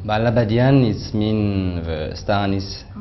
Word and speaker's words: La Badiane: So it's nice to have a name with influence Asia, but with pronunciation of, for in French I use every time La Badiane, La Badiane.